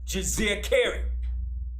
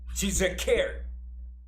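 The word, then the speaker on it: Djeserkare: and he had a throne name which was jose cary i'll spell it it's d j e s e r k a r e that is his throne name she's a care his birth name was aman hotep a m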